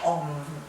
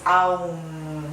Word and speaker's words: Aum: Om, que se escribe así, muchos lo dicen fonéticamente como Om. Es Aum.